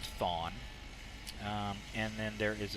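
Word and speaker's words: Chthon: h o n spell spell it so it's pronounced thawn um and then there is a sequel to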